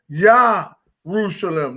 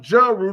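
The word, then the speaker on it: ירושלים: Yah-Rushalem, not Jerusalem, because there was no J at the time.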